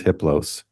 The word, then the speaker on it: Hiplo: entity his name is hiplo the H is silent the other three are